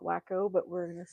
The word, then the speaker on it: Waco: So now the Waco, Texas thing ties into this as well. Okay. 93. the most he drove to I call it Waco, but we're going to say it properly and call it Waco, Texas.